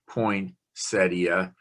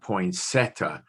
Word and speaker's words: poinsettia: are kind of pointy poinsettia not poinsetta so there are four